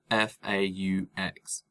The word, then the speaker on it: faux: know, when you say forks, did you mean faux, which is pronounced, you know, like F-O-E.